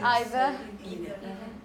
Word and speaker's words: either: Either. Exactly, we're going to play that, yeah? Okay, how would you say it, Alison? Okay, but some people say either, and both are okay.